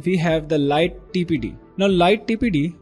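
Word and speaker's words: lighttpd: 7 we have the light tpd now light tpd which is pronounced as Lighty is a web service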